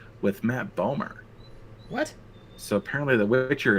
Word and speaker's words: Bomer: Matt Bomer. Spell it Bomer? B-O-M-E-R? Matthew Bomer. Matt Bomer.